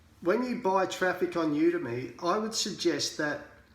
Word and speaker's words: Udimi: A few people pronounce it Udemy or Udemy or Udemy or whatever it is. I call it Udemy. Okay, so I will be just calling it Udemy. So it's UDIMI, and that is a solo ad service provider.